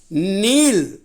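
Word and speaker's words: kneel: வார்த்தையினுடைய ஒரு சிறப்பு என்னன்னா கே வந்து உச்சரிப்பு இல்ல அது சைலெண்ட்டா இருக்கு ஓசை இல்லாம இருக்கு ஆக அதை வந்து ஓசைப்படுத்தி சொல்லக்கூடாது நீல் கேக்கு இக் சவுண்ட் சேர்த்தக்கூடாது இக்கு சவுண்ட் சொல்லாம நீள் நெல்ட் நெல்ட் இதனுடைய அர்த்தம் மண்டியிடுதல்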